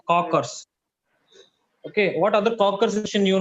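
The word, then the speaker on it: Kocher: what other Co in it's cockers okay not coaches cockers it's pronounced cockers okay what other coer you know anyone coer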